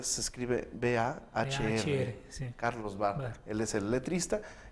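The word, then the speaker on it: Bahr: Carlos Barr se escribe B-A-H-R. Sí. Carlos Barr.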